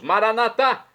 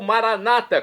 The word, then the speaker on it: Maranatá: Agora eu clamo do aramaico, dialeto de Jesus, Maranatá, ou Maranata, como dizem nossos irmãos separados, os evangélicos ou protestantes. Não importa a pronúncia, o significado é o mesmo.